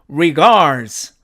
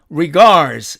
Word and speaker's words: regards: 그러나 여기서도 역시 자 보니까 드와 즈가 같은 음으로 본다 그랬으니까 드가 사라지고 결국 즈만 살아남았죠. 그래서 이 단어는 regards regards 이렇게 발음이 됩니다.